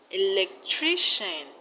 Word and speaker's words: electrician: In electrician, we have the stress on tri. Electrician. And in technician, the stress is on ni.